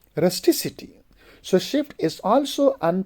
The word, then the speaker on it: rusticity: to the second syllable the final C of the base becomes s when it Y is added for example we say rusticity so shift is also